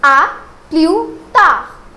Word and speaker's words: à plus tard: Now let's try to put emphasis on its pronunciation. So it is à plus tard.